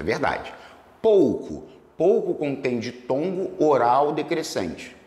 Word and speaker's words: pouco: Pou, pou, pou, não vibra o nariz. Pouco é oral.